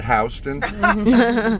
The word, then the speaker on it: Houston: And they were very agitated about this because it clearly says Houston on the sign, but we pronounce it Houston.